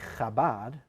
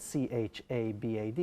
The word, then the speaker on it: Chabad: That is, and just the way you say Chabad, we spell it C-H-A-B-A-D, That is although true.